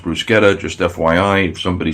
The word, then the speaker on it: bruschetta: does Bruce Bruce Quetta by the way it's pronounced bruschetta just FYI if somebody says bruschetta to be honest with you it's fine it's